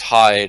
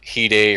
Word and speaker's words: Hyde: And yes, it is pronounced Hyde. It is not Hide or anything like that because the game, thankfully,